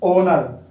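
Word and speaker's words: honour: जैसे एन ओनर, हम इसको होनर नहीं पढ़ेंगे, इसको पढ़ेंगे ओनर, ओनर एन ओनर, ये ऐसे बोल सकते हैं एन ओनर।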